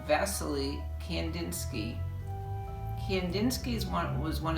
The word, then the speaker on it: Wassily: and our russian artist wassily or as it's pronounced really uh in russian vasily kandinsky kendinsky's one was